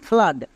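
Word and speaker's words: flood: next আরেকটি দেখো যেমন ফ্লাড এখানেও ডবল ও আছে এবং এর ঠিক পরে ডি আছে তার মানে কি ডবল ও এর জন্য আকার সাউন্ড করবো তাহলে কি হবে এফ L double O ডি ফ্লাড এবার দেখে নেব লাস্ট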